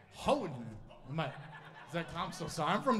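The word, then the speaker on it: Houghton: By the way, did I say it right, Hutton? Say it again. But there's no T, right? Hutton.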